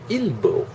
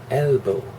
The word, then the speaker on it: elbow: And she mispronounces it, ilbo, ilbo, elbow, ilbo.